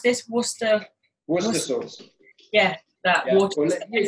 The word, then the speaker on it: Worcester: How do you pronounce this? Worcester.